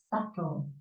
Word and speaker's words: subtle: subtle yeah you cannot share the B it's subtle so why why there is the age here because when when we pronounce it we go so to make a